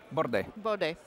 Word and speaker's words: Bordet: it well it's okay the French pronunciation and the Italian pronunciation with the T at the end is is they're both fine.